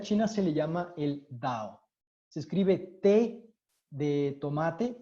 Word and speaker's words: Tao: absoluto en la china se le llama el dao se escribe té de tomate de árbol y o